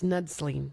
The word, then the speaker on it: Knudslien: That's Knudslien. Okay, fine. The K is silent.